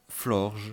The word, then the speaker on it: Florges: Et je l'ai remplacé par Florge, ou Florges, vous le prononcez comme vous voulez, moi je dis Florge, que j'ai appelé Cardamine,